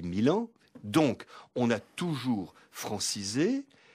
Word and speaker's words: Milan: Quand à la gare de Lyon, j'entends qu'on annonce un train pour Milano-Venezia. On dit Milan.